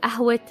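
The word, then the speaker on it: قهوة: You might be wondering, why did I pronounce the T in Ahwe? What happened to my AH? Simply because my first noun, which is Ahwe, is feminine, I have to replace the AH with a T.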